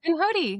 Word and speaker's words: Pinhoti: How do you pronounce the Pinhoti Trail? Pinhoti, yeah, you got it.